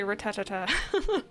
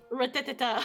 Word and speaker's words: Rattata: When I was younger, I used to say ratatata. Rattata.